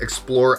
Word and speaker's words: XPLR: But it is made by a company called Explore Outfitters. It's spelled XPLR and then Outfitters.